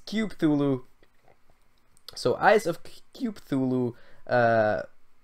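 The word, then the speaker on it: Cthulhu: actually told me um how I should pronounce that word so it's cuthulu so eyes of thulu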